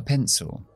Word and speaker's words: pencil: Ahora, a pencil. Un lápiz. Fíjate que pencil termina con C, I, L. Cuando pronunciamos una C con I o C con E, siempre es una S.